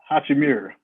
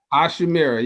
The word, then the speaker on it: Hachimura: I just can't pronounce his name. Hachimura. Hachimura, yes.